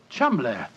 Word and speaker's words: Cholmondeley: Being an American, he had no reason to know that the name Chumley is in no way pronounced the way it is spelt. Oh, Joe, I never thought of that. Chumley.